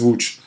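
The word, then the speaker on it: Łódź: And Wooch is, that's a city that looks like Loads. This is how you say it in Polish, is Wooch.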